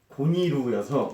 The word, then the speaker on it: 고니루: 이게 일본어 발음이 고니루여서 네. 그래서 이제 피오가 고니루 형이라고 표현을 한 거거든요.